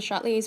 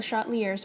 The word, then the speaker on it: Le Chatelier: can call it a shot leaders principle you can call it a shot Lee s principle pronunciation doesn't really matter here it's AP chem not French anyway lishala is principal officially